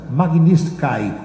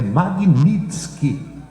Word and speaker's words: Magnitsky: Então tem gente pronunciando Magnitsky, que é KY no final. Não é. É Magnitsky, KI no final.